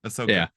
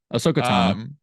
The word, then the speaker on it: Ahsoka: pronounce this girl's name is it ahasa or aosa yeah that Ahsoka Ahsoka yeah they're like bringing